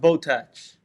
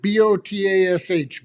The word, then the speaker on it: Botach: It's pronounced Botach. Botach. If you get it wrong, we charge you more on your order." So I pronounce it Botash. Botach. Botach. You pronounce it Botach. Botach. Botach. Yeah, like attach.